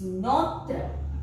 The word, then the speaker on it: notre: Then no, that we will use notre, N-O-T-R-E, that means our.